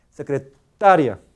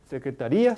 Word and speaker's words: secretaria: Buscar qui la Buscar nunca se debe decir secretaría sino a ver Secretaría no sino secretaria sec secretaría secretar Oh